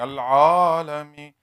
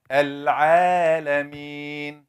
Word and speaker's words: العالمين: smile so I'm telling you are saying العالمين wrong so basically you are frowning العالمين obviously I'm making it too much. You didn't go that much, but it's some tafkhim. So in order to say it right, smile a little bit.